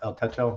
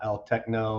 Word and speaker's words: El Techo: El Techo, it's pronounced El Techo, not El Techno or anything like that.